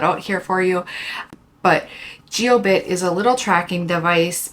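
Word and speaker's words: Jiobit: device I recommend is called geobit it's j i o bit T and I'll spell it out here for you but geobit is a little tracking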